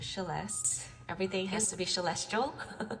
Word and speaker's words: Celeste: Inspired by my name is spelled Celeste, pronounced Celeste.